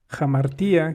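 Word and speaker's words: ἁμαρτία: Este, Amartya viene del griego hamartía, quien quiere apegarse un poco a la pronunciación griega.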